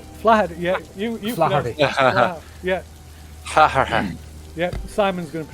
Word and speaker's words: Flaherty: Yeah, you Flaherty. Yeah. Yeah, Simon's going to pronounce that. Just get a bit of gravel, right? It's a bit more of the gravel in the back of the throat.